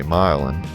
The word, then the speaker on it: Milan: The neighborhood has several other streets named for European cities such as Jena, Marengo, and Berlin, but Milan, or should I say Milan, has that unique New Orleans pronunciation often applied to street names.